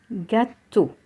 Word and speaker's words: gâteau: Gâteau, le gâteau. Here E-A-U is also pronounced O. So we have gâteau.